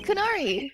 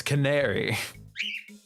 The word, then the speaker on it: canary: Can It's Canari. No, it's Canary. Canary? No. Canary. Canary. And I got to search it. The The stress is on the second syllable.